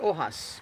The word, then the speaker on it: Ojas: No, it's pronounced Ojas. Ojas. No, he said. Ojas. No, you got it wrong last time, remember? Is it Ojas or Ojas? Ojas. All right, all right. It's pronounced with a J, he said.